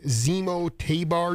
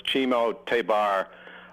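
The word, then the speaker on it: Ximo Tébar: pronounced this guy's name Zemo tabar jazz band oh uh that's chimo it's for some reason it's pronounced chimo but it's chimo tabar uh and he's a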